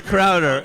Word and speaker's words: Crowder: Sure, he got the name wrong. I just want to make sure that, it's It's Crowder. Interest in other people. It's Crowder, Yeah.